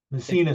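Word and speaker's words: Messinas: Amazon is called uh missina concentrated deer stopper that's it thank you Michael missina so just think of the uh Town up in Northern New York although it's spelled differently the caveat with that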